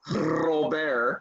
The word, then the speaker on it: Robert: You got to roll your R's. I'll hold it up and Yeah, Robert.